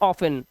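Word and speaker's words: often: इसे पढ़ते हैं ऑफिन। ऑफेन में भी हमारा टी साइलेंट है। लेकिन इस वर्ड में एक अपवाद है कि इसको आप ऑफिन भी पढ़ते हैं। मतलब इसका टी पढ़ा भी जाता है।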